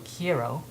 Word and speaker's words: quiero: and then you have the pronunciation here on the right so key Arrow hero remember the Taco Bell commercial that said yo quiero Taco Bell I want Taco Bell so kiero um then you got